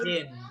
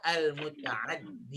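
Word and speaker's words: متعدٍّ: Iya, kalau nggak pakai bacanya, kalau nggak pakai alif lam Ya, Al-muta'adi. muta'addin. Tapi kalau pakai al-muta'addi.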